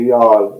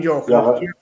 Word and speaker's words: Youghal: I put two syllables into that now. I call it Youghal. On Youghal.